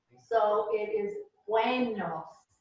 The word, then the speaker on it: buenos: The E is pronounced like a long A. So it is buenos, buenos.